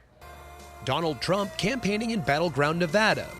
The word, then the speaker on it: Nevada: Trump campaigning in battleground nevada nevada nobody says it the other way it has to be Nevada right and if you don't